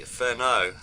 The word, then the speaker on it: Furneaux: the virtual campfire is Ferno have I pronounced your surname correctly well yes you've done it very well thank you perfect um